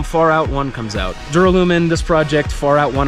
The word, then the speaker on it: Duralumin: a rad sounding name I know some people have trouble pronouncing it it's phonetically correct duralumen either way there's a slight